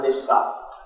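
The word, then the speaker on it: निष्क: 16 drama is 1 nishka. So nishka, you will find this dot below S. So the second sloka, verse 6. So this is pronounced as Sha, Nishka. And if a dot is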